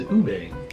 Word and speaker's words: ube: It is ube. Ube. So next, let's visit mountainous. Good lord, everything. I can't pronounce anything.